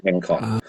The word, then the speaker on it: Engcon: angstrom um so the G is is not pronounced but so the N NG is forstrom and then the con is construction so in con ah in con okay that makes sense yeah